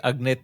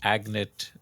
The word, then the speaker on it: Agnit: told me that uh I've been calling it agnit and you pronounce it a Agnet. Uh sorry I yeah it's right please call it please call it agnet agnet is good uh